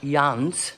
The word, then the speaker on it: Llanes: It's just before the one that I'm staying in, which is, I think it's pronounced Llanes, which sounds like lanes.